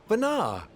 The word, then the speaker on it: Venat: Vanar, that we should meet you here. Oh, the T is silent.